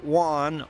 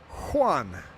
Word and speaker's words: Juan: But the proper pronunciation is Juan with a h sound.